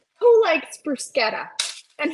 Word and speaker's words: bruschetta: all right who likes brusketta and who pronounces it bruschetta incorrectly it's brusketta let's get it right people good morning Kimmy D hey Connie hey Sherry hey jagy it's brusketa not brushetta and if somebody corrects